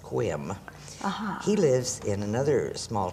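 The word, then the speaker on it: Sequim: town called Cooum and it's seq uim but it's pronounced quim he lives in another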